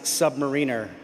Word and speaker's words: submariner: Huya Navy and it is it is it's this is controversial but it is pronounced submariner.